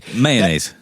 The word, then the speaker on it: mayonnaise: Mayonnaise. How do you say it? Mayonnaise. That's the way to say it. Correct. We all say mayonnaise. I tell you I mayonnaise. It's two syllables.